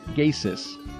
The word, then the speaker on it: Geysir: The name comes from an Icelandic word meaning something like that which gushes, spelled Geysir, but pronounced Geysis.